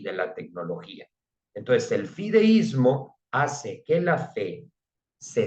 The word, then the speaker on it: fideísmo: y que es el término fideísmo, con acento en la I.